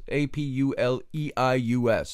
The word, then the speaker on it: Apuleius: ahead of time from my notes so I pronounced him right Apple s APU le I u.s.